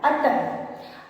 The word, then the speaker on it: अतः: अब देखिए ह नहीं है लेकिन बिंदी जो है वो ह का उच्चारण, यहाँ पे बिंदी के होने की वजह से हम यहाँ पे ह के उच्चारण का प्रयोग कर रहे हैं। इसीलिए जब भी हम इन 2 बिंदियों को लगाते हैं वहाँ पे हमें ह की ध्वनि सुनाई देती है।